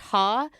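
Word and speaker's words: ห้า: In Thai, you say five is pronounced ha.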